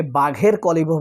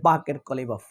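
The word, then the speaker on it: বাকের কালিবাফ: এই উচ্চারণটা অনেকে বাঘের কলিবফ বলে, বাঘ, আসলে বাংলাদেশের উচ্চারণ হয় বাকের কলিবফ।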